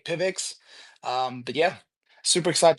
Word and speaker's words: PIVX: The pronunciation, I guess it varies. Everyone's got their different way, but we just say Pivix.